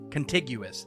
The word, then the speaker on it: contiguous: in the United States continental United States not it's contiguous there we go all right I said